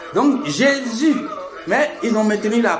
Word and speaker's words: Jésus: Donc Jésus mais ils ont maintenu la prononciation c'est G.